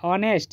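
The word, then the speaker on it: honest: क्या है ऑनेस्ट girl जो कि एक कंसोनेंट लेटर से शुरू हुआ है लेकिन उसका साउंड कैसे आ रहा है ऑनेस्ट यानी कि स्वर जैसा साउंड आ रहा है और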